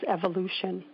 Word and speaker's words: Evoloshen: And when we were naming our company, which is called Evolution, the name actually is spelled EVOLOSHEN. So it's got Volo in it.